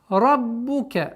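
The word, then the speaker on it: رَبُّكَ: Раббука, ра твердый, удваиваем, четкое произношение звука огласовки. Дамма, раббука, раббука.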